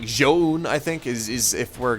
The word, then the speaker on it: ZOUN: But yes, that is the proper pronunciation of ZOUN.